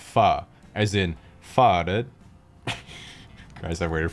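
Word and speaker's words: phở: after some type of pun involving the word foe fo sure foe ever fo true foe you etc but in reality the word is actually pronounced fa as in guys i waited four years for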